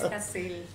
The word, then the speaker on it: Yacel: Acaban de poner, dice Yacel, nunca pronuncian bien mi nombre, no. Es Jacel.